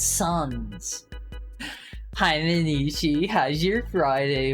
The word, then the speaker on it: Sans: It's pronounced like sand. It's not pronounced like. It's not sands. It's suns.